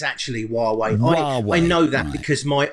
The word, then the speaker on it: Huawei: I think we should care about how we pronounce it. Oh, I don't know. I've asked several people today. It's Huawei. Huawei.